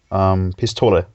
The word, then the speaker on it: Pistole: pistols in German too, only you pronounce them differently. How do you pronounce it? Pistole. Like almost like Luffy Luffy pronounces pistolo, only with an L instead of an R.